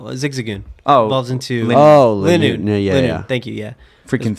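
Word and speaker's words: Linoone: pronunciation. No. Zigzagoon. Oh, Evolves into Lin- Linoon.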